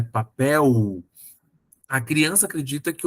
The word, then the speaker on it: papel: exemplo a descobrir que papel se escreve com l no final apesar de se pronunciar u né papel a criança acredita que